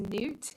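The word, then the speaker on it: knout: lost on it was note which is also pronounced Newt which is k-n-o-u-t it's always the one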